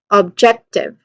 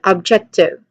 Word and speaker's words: objective: So with that, we get objective. Again, objective. One more time, objective. Again, the main emphasis here should be on the second syllable, jet.